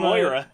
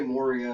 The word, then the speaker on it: Moira: every It's time Moira. every time I saw M-O-I-R-A. every time Moira. I saw Moira? Nick's Moira. Moria. Yeah, exactly. You guys always say Moria. It's Moira.